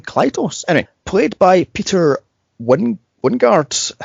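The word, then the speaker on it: Klytus: That pronounce his name Klytos.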